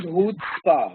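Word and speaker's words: chutzpah: pronunciation is HPA okay the pronunciation of this word is hootspa what is the meaning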